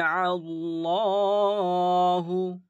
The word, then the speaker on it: الله: উদাহরণগুলো দেখে নেই যে এইযে দেখুন জবার পেশ জবার পেশ মানে কি এটাকে আমরা পুর করে পড়তে হবে আর এটা ল শব্দের